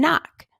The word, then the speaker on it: knock: we here is our which consonant is pronounced in the K n sound spelling pattern new knee and knock we only hear the N that's right and which